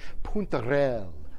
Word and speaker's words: puntarelle: You ever hear of puntarelle? Okay, this is an Italian heirloom from Sicily. And you have to say it correctly. You have to move puntarelle. Puntarelle. That's how you have to do it.